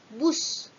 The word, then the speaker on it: bus: Yang keempat, bis. Biasanya kita sering menyebut kata bis kota. Seharusnya itu adalah bus kota.